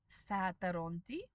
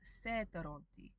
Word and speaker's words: sataronti: Because if that a sound, the a with the umlaut, is in an unstressed syllable, in Reef, we can, optionally, turn it into the e sound from the e. So sataronti becomes setaronti. And langu becomes lengu.